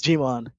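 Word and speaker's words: Djimon: I think it's Gmon. I could be wrong. I don't know how to really pronounce it. Do you know, Manu? It's Gmon.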